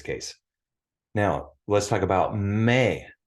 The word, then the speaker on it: me: think of that because it's spelled the same way me it's pronounced May in Spanish but it's me all